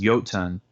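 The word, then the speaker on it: Jotun: in the series and the word itself is yotun which in Old Norse means giant so yotengard or yachten guard would be the way to pronounce it based on Old Norse um what I really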